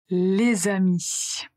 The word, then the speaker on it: les amis: Donc certaines consonnes final doivent se prononcer devant une voyelle ou un H muet. D'habitude, il s'agit soit des articles, soit des proms personnels. Par exemple, les amis, les amis, les animaux.